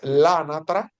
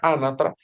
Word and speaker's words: anatra: No, si la palabra que tienes enfrente es femenino, como es este caso, tú Ujú. dices lánatra, porque se pronuncia anatra, lánatra, y el plural pasa a ser leánatre.